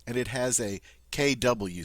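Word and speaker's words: quand: French word for when K notice not Quang but K and then the French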